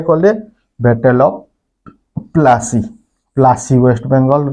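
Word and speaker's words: Plassey: रे कले battle of प्लासी waste Bengal रे गोटे जगहटे अच्छे तार ना होचे पलासी कहसन किंतु इंग्रेज मानकर प्रोनाउंस रे सेटा प्लासी हो जाइए है तो बैटल ऑफ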